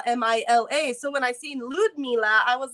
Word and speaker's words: Ludmila: so it's Ludmila. So the D on my name and sounds more like a G whenever you say it. So, Ludmila.